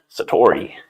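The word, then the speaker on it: 悟り: know that term right Satori I think that's how we say it Satori so Satori Satori is that would be the correct Japanese pronunciation this is a noun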